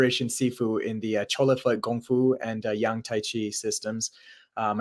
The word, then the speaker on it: Gung Fu: arts awesome systems like Gung Fu right it's a proper pronunciation know everyone says Kung but it's Gung Fu and taii Harsha has